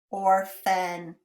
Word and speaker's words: orphan: Did you remember or like horse is a combination OR? Or, orphan. Let's clap that out.